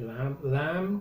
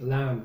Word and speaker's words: lamb: Duck, rabbit, lamb, cordero. Okay? Lamb. Don't pronounce the B at the end.